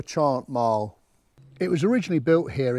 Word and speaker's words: Chantmarle: Um, I've spoken to four locals. Three called it Chant Mal and one called it Shantm. So, I'm going for Chant Mile.